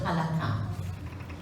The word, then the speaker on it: halakha: I think you might pronounce it halakha, but it's actually halakha in Hebrew.